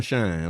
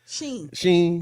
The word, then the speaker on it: Shein: used by Temu and how you say it, Shein or Shine? I always Shine. Sheen. It's Sheen. Sheen.